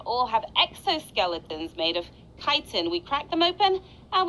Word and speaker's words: chitin: And yes, that says chitin, everybody. Don't pronounce it any other way.